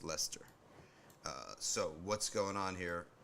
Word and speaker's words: Leicester: read about Lester okay lycaster disorder fear lingers among cities Muslims and Hindus of course it's actually pronounced Lester so what's going on